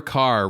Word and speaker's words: Kerr: The studio promotion for her was Deborah Kerr rhymes with star.